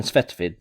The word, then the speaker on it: Svetovit: it gives a name sweat of it or svetovit which i believe is the proper way to say it but i'm going to continue calling him svetvid just because that is how it is shown in the game the translation also makes